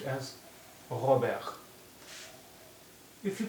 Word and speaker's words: Robert: is pronounced like so and here t is silent so it will be pronounced as ahabek if you pronounce it as we do it in english it will be pronounced as robert if you are pronouncing